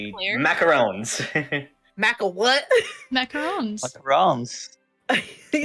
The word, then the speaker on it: macaron: macaron. He beats me with the stick if I say it wrong. Macaroon is the coconut thing, and it has 2 O's. Yeah. Macaron has 1.